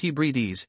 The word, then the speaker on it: Hebrides: in the Scottish Highlands and the outer Hebrides pronounced Hebrides it is the island chain to the immediate